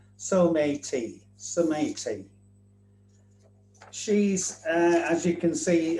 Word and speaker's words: Someity: So the Paralympic mascot is called Someity, that's the actual spelling of the word, that's it in Japanese and that's how we pronounce it in England So-may-tee.